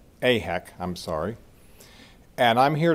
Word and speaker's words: AIHEC: And we've just heard Gary talk about the efforts of IHEC. Did I pronounce that correctly? AHEC, I'm sorry.